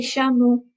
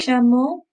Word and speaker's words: chameaux: Je n'aime pas les chameaux. Je n'aime pas les chameaux. But if you notice, un chameau, les chameaux, it doesn't change the end sound of the word.